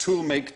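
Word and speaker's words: Tollemache: barreled same name but each half was pronounced differently oh my so it's pronounced tool make Tash the to make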